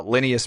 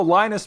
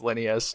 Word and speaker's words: Linneus: was Linneus Medical, and it's spelled like Lineus, right? And so I can't tell you the number of times people still to this day be like, oh, Linus Medical, right? It's like, not Linus, it's Linneus.